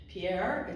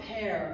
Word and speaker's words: Pier: Pierre, it's not Père. A lot of people want to make it French. I get all kind of things. I even get things to me, P-I-E-R-R-E, Pier Giorgio.